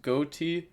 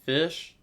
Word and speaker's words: Ghoti: this in said that this isn't pronounced Ghoti, it's pronounced fish. But I'm going to be 100% honest with you, no way I'm calling that fish. There's no way this ever adds up to fish.